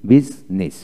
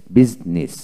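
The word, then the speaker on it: business: এখন আসুন, আই উচ্চারণ হয় না যেমন বিজনেস, বিজনেস।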